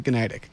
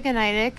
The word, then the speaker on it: Gniadek: yourself who is gtic oh my name is gtic John thank you for pronouncing my name right every time I really